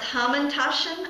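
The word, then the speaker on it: hamantaschen: And they actually have I this is pronounced hamandashen.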